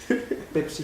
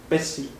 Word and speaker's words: Pesci: Pepsi no. Pepsi. Pesci. Es que sí, ¿cómo se pronuncia? Pesci.